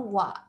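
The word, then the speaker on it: は: So you can keep on going forward by pressing enter and then click on wa, which is ha, we pronounce as wa over here as the particle.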